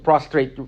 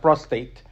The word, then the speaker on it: prostrate: royalty and looking at the word to prostrate once not prostate prostrate okay that's a different